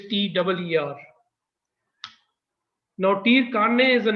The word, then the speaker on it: TIR: It's pronounced, the TIR word is pronounced as TIR. That is, if you write it in English, TEER.